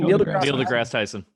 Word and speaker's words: Neil deGrasse Tyson: Neil deGrasse Tyson.